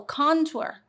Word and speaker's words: contour: don't know con well I think I put more emphasis on the O contour and you say contour